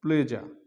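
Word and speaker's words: pleasure: রুলটা সেটার মধ্যে রয়েছে শব্দের শেষে এস ইউ আরই থাকলে এর উচ্চারণ সাধারণত জ হয় যেমন প্লেজা প্লেজা প্লেজার হওয়ার কথা এখানে র কিন্তু অনুচ্চারিত থাকবে মানে উজ্জ থাকবে সেখানে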